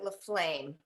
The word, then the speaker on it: Laflamme: first guest speaker which is sharon sharon laflamme fleflamer leflam i never remember that i pronounce it la flame because that's what i was told but i